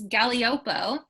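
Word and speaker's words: Gaglioppo: but i liked it i included the phonetic spelling on the text sheet so it's galiopo um but i i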